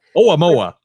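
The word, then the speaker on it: ʻOumuamua: We were talking about this very thing with the Umaluma or whatever the heck it was that went around the sun. How are you pronouncing? However you pronounce that. Oumuamua.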